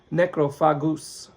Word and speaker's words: Necrophagus: probably four years uh it's called necrophagous at least that's how Americans and British people pronounce it uh it's a Spanish movie so maybe they would pronounce it necro fagus uh or necro fagus something something like that but either way if